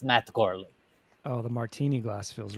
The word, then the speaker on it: Matt Gourley: The football, the golfer, the martini glass, they are all silent. It is still pronounced Matt Gourley.